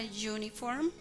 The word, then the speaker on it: uniform: La palabra uniform tiene sonido como si empezara con una consonante, con la consonante Y.